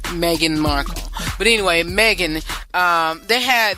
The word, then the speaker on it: Meghan Markle: Her name is Meghan Markle, not Megan. A lot of folks been saying Meghan, but I believe her name is pronounced Meghan Markle.